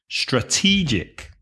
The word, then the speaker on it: strategic: the noun that sorry the adjective is strategic also three syllables but be careful the stress changes strategic strategic for example it was